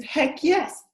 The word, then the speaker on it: Heck Jess: So Heck Jess, pronounced in Swedish, is Heck Yes.